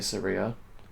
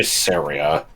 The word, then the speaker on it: Saria: I don't understand people who say Saria. Like, I guess that would make it rhyme with Maria, but it doesn't sound I used to right. just say Saria.